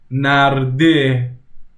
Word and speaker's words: نرده: See how the e in istakh and he in narde are different? Narde is more intense compared to istakh, that the e is more like an s, more like the narde, narde.